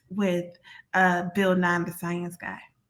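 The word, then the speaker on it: Siyanse: for the future uh it's s-i-y-a-n-s-e but pronounced science but it's explore science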